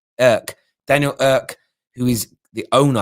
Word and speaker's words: Ek: Daniel, I think it's pronounced Irk.